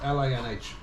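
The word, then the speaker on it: Linh: Then, Lin, Lynn. you write L-I-E-N. No, L-I-N-H.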